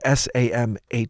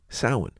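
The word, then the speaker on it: Samhain: possess in this case the word is s it's spelled s a m ha a i n and that's how I've pronounced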